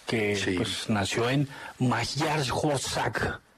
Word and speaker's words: Magyarország: Puskas, que sí, pues, nació en Magyarország. Muy bien, buena pronunciación. Hungría en húngaro, así se dice, Magyarország.